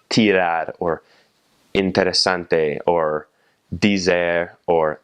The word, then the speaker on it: dizer: Or the word for to say is dizer, spelled D-I-Z-E-R, dizer.